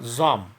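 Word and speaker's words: psalm: খেয়াল করবে, এটার ক্ষেত্রে পিটারও উচ্চারণ নেই, এলটারও উচ্চারণ নেই, এরকম একটা উচ্চারণ হবে জাম, called the voice of the mother, which I wrote and published about this time.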